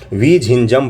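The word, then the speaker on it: വിഴിഞ്ഞം: तो विझिंगम पोर्ट में बनाया है, विझिंजम पोर्ट। इसका नाम बड़ा ही सुंदर है, बहुत ही सुंदर है, प्रोनाउंसिएशन करने में नहीं बनता है। देखिए, विझिंजम पोर्ट है।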